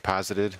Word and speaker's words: posited: How do you pronounce this word? Is it poisted? P-O-S-I-T-E. Posited.